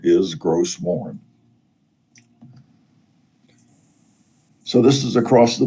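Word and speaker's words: Gros Morne: it's pronounced bonnie bay a lot of places in newfoundland look like they have a french origin but they've anglicized the pronunciations like gross morn is gross mourn so this is across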